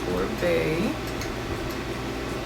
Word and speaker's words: Oribe: So, um, it is pronounced Orbee and this is the Discovery set.